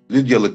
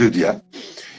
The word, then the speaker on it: Lydia: Mesela İstanbul ekolü Lidya diye okur. Ankara ekolü de Lidya diye. Hı hı, hı hı. Telaffuz kurallarıyla okuyoruz. E, Böyle telaffuz edildiği kabul ediliyor. Üpsilon'un Ü diye telaffuz Doğru. edildiği kabul ediliyor. Onun için öyle okuyoruz.